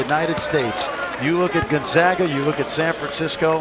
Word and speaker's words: Gonzaga: It's Gonzaga. You and I have said it right all year long. It's not Gonzaga. It's Gonzaga, and it's Calipari, not Calipari. If you take nothing else